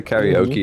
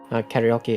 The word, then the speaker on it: karaoke: a japanese word however the more proper way to say uh karaoke is the japanese way okay yeah exactly yeah